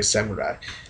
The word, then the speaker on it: samurai: I know I pronounce it a little bit different, but I'm just pronouncing it the Japanese way, samurai. Different pronunciation, same spelling, whatever.